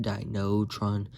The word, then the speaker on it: Dynatron: not d-r-1 dynatron but there's an actual transformer named dynatron but it's like pronounced dinotron d-i-n-o-t-r so i spotted